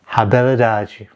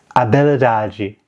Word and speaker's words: habilidade: look at this word, I'm probably going to guess that this is pronounced in Portuguese, habilidade. But actually it's habilidade, or much better than that, but it's much closer to habilidade, because this is Portuguese and generally the H is dropped entirely as a sound.